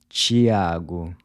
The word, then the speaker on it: Tiago: So the “t-e” is pronounced like the “c-h” in chip. tio…tia..nativo…notícias. How would you say this common male name? Tiago.